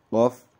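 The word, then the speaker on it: ق: Huruf qaf itu hampir sama dengan kaf. Pelafalannya juga berbeda, yaitu qaf dan kaf.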